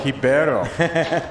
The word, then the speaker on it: Ribeiro: done all right carlos ribeiro coming out of brazil yeah he actually schooled me on the pronunciation of his last name it's pronounced hibero yeah the uh the r becomes an h in brazil what switch front board